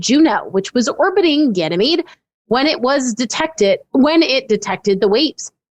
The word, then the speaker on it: Ganymede: Am I pronouncing that right? Ganymede. Feigang Fei. Ganymede.